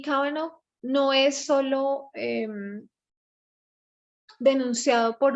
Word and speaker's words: Kavanaugh: Ya no quiero seguir pronunciando mal todos los nombres. Kavanaugh. Ok, Kavanaugh.